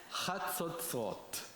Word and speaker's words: chatzotzrot: And when I teach Hebrew, I always say, if it doesn't hurt down around here, you're not saying it right. Chatzotzrot.